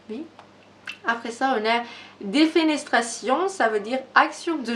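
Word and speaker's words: défenestration: Un dramatique avec une prononciation très française. C'est défénétration. Défénestration.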